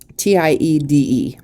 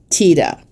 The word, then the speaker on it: Tiede: Tiede. Tiede.